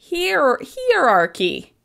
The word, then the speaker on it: hierarchy: Hierarchy. Hierarchy? Hierarchy. I find this word really hard to say. It has a lot of different vowels in it. It has stress that I'm not quite comfortable with.